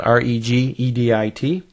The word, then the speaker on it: regedit: launch a program called regedit it's spelled reeg edit type that in this